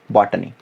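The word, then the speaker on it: botany: The word use इन बॉटनी। ये कुछ उसको बोटैनी भी बोलते हैं। सो इट्स नॉट बोटैनी इट्स बॉटनी, just simple pronunciation.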